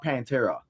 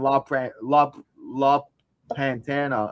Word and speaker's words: Pantera: His name was La Primera or La Pantera. That's what his nickname was. So for 6 months of Stephanie Valkyrie, I'm walking around saying La Pantana or whatever the fuck. And nobody's letting me know that I'm saying it wrong.